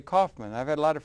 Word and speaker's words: Kaufman: my name is pronounced there two way to pronounce yeah Kaufman yeah there's two ways okay Kaufman or uhuh now which one you think it is you don't know C I always say Kaufman I've had a lot